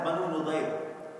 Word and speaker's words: Banu Nadir: So and this tribe was called Banu Nadir. Some also pronounce it as Banu Nudayr.